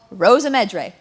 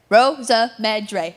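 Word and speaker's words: Rosymedre: Our next piece is officially called Rosa Medre. Rosa Medre. If anyone tells you it's anything else, they're wrong.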